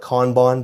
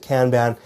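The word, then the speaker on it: Kanban: huge one too is can ban I think a lot of people in the US call it kbon but here in Canada we do say we pronounce it can ban this one is neat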